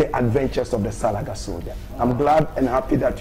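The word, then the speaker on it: Soljah: Soldier is S-O-L-J-A-H. Soul of Jah.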